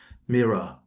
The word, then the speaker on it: Meera: Well, the easiest way is to pronounce my name as Mera.